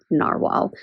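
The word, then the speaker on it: Nahvalur: friends and learned that even though the spelling changed, it's still pronounced narwhal.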